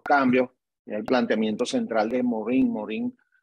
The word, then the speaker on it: Morin: El planteamiento central de Morin, que es como se pronuncia en francés, él plantea que el